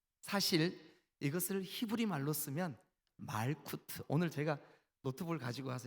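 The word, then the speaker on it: מלכות: 히브리 말로 나라 이것을 어떻게 발음하냐 하면 말쿠트 그렇게 발음해요. 한 번만 따라해 주세요. 뭐라고요? 네, 말쿠트 그렇게 발음해요.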